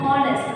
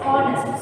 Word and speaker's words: honest: You should not pronounce it as honest. It's honest. So it sounds like letter O. The vowel.